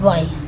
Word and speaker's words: why: तो वाई मतलब क्या, देखिए WHY वाई। ठीक है। एच इसमें साइलेंट होता है, वाई मतलब क्यों होता है।